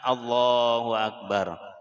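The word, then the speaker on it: الله أكبر: Antara lafaz Allah dan lafaz Akbar jangan ditambah wau yang mati.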